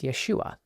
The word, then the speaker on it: Yeshua: The first letter to the farthest right is called a yode. It makes a Y sound as in yellow. Under the yode are two horizontal dots. This vowel is called Sarah. This vowel makes a long a sound as in say. The yod and sarah together make yay, hence Yeshua.